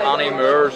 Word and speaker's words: Annie Moore's: We're going to a place called Annie Moore's in Manhattan. How do you say it? Annie Moore's. Annie Moore's? Annie, like A-N-N-I. You know Annie, the musical? Annie Moore's, M-O-O-R-E-S.